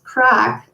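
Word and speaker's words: craic: again and i realized crack is an irish word for fun same pronunciation just different spelling what i also loved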